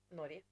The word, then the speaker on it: Norge: Norge. Norge? In Swedish, we would say Norge. Norge. Yeah. So you don't say the G? No. G. No. Norge. Norge. Cool. And then in Norwegian, you would say Norge.